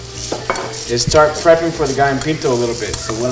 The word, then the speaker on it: gallo pinto: start prepping for the guy in pinto a little bit so what i'm gonna do how do you say that again okay g-a-l-l-o and in spanish two l's make a y sound and then pinto which